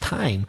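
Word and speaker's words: thyme: why m e time the herb which is familiar to me you th ym E is pronounced time so there are a few th words which are pronounced as if it was just letter T and you said the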